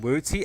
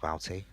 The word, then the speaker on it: Wouty: Carlo, Tenrai, and then Wooty and Chris. So it is. There you go. It's Wooty and Chris. Holy crap. That's a nice one. Do you know it's actually pronounced Wouty?